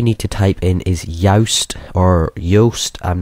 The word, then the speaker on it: Yoast: to type in is Yoast or Yoast. I'm not really sure how you pronounce it, but it is simply spelt like toast but with a Y.